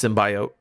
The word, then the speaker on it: symbiote: it's very cool uh first thing you said it wrong it's symbiote symbolic excuse me excuse